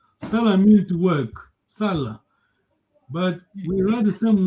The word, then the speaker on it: sala: So your tone, the way you pronounce gives the meaning to the word.